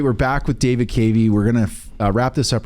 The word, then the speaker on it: Cavey: It's Cavey, yeah. And then we'll come right back in just a moment. Great. All right, we're back with David Cavey.